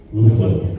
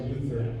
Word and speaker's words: Luthor: Luthor. Nobody really does that. It's always Luther in all the shows. Oh, is that right? All the shows. It's It's a rarity when anybody says Luthor.